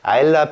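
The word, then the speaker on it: Islay: I know it's Ailee The actual pronunciation reads as Ayla.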